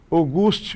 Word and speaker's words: Auguste: Chegamos no ponto onde eu comentei para vocês, Auguste Rodan, se escreve Auguste, mas se lê August.